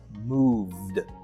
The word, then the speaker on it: moved: So move would be pronounced in past tense as moved, moved, moved.